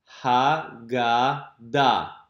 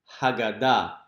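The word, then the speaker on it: הגדה: And at the end, notice that the hey is silent.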